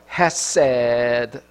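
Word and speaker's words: חסד: 왼쪽으로 읽어야 돼 세계 이제 밑에는 모음 인데요 헤세드 요렇게 발음이 나는 것입니다 예 개구리 어는 어디서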